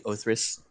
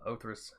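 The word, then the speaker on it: Othrys: If you're going for the actual Greek, it's probably Othris.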